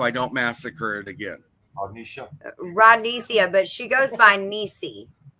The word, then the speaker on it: Rodnesia: And how do you pronounce the name so I don't massacre it again? Rodnesia, but she goes by Nisi.